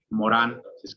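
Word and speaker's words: Morin: decía Edgar filósofo francés Edgar Morán Edgar Morín pero se pronuncia Edgar Morán decía decía que el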